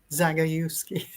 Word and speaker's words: Zagajewski: But I will, like, now how's it pronounced? Jagodziewski. Is that right? Jagodziewski? Zagajewski.